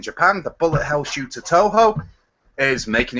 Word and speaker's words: Toho: It's pronounced Toho, and it's coming to the West finally.